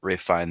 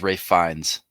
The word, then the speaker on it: Ralph Fiennes: I feel like we're kind of getting to the point with Ray Fine. Maybe I'm higher on Ray Fine than others, but I think that I think he has an S after his name.